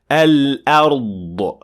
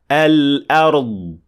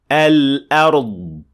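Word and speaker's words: الأرض: Al-ard. Now that last bit of the sound is the qalqala or the releasing of air, which is not supposed to happen. And it should sound like this. Al-ard. Al-ard.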